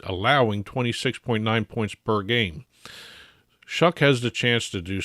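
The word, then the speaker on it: Shough: Now, Tyler Shuck has looked very impressive for the Saints during their 3-game winning streak here. So impressive that I learned how to pronounce his name correctly. I was calling him Show for God knows how long.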